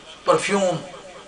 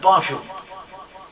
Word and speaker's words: perfume: The perfume has got two pronunciations, perfume and perfume. Perfume is the fragrance. Perfume is a verb, means would you like to perfume yourself? So perfume is used as a verb.